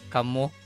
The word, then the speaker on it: kamu: more than one person it's not kaio it would be kamu or it's also either with an o you can either spell it with an o or a u and people might understand so yeah it's similar